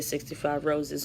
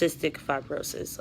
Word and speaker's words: cystic fibrosis: a long time ago kids used to say 65 roses or 65 groceries because they couldn't say cystic fibrosis and there's actually on a set of foundation called 65 roses but it's pronounced cystic fibrosis um and you got you guys can look